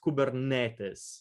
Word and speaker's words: Kubernetes: So it is pronounced Kubernetes, not Kubernetes or Kubernetes or anything. It's you pronounce every vocals.